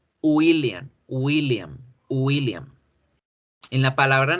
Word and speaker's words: William: mal el nombre porque en español tendemos a decir con la g de gato william mi nombre es william no no es william es y william william william en la